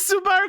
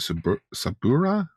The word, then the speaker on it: Subaru: Either that or how you pronounce it? Sabura? Subaru? Subaru.